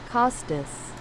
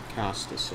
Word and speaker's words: Costas: Costice. Costice.